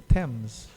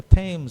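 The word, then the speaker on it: Thames: The temps, how do you say it? The temps. The temps. The tames are the temps.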